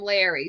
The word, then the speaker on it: Lowry: well, Frank calls him Larry, so that's his name, but his name is spelled Lowry. But the first time he said that, Frank heard Larry. I heard Larry too, so I started thinking about the lava lamp.